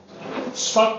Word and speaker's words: Spuck: Spuck rhymes with everything that you're not allowed to say out loud.